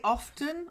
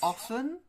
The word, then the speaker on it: often: now you can say often or often but not oven oven is like a cooker I don't mind whether you pronounce the T or not I tend to say often but often is ok as well